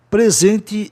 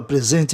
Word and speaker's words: present: Presente, essa palavra presente em inglês pode ser apresentar, né? Se for apresentar, é uma homógrafa. Se escreve do mesmo jeito, mas se pronuncia de duas formas.